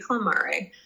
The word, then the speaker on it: clamare: We would pronounce that with Latin, and they pronounce everything. So it would be clamare.